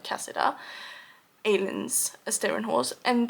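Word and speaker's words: Kasida: I believe you pronounce it like Cassida.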